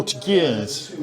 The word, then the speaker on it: voltigeur: voltigeurs.